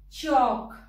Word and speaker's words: chalk: Next is L. Palm, come. L hai, par sound nahi dete. Ki bolenge? Palm, come. Chalk, talk, walk. Fork, yoke, and half. In all these words, the L is silent.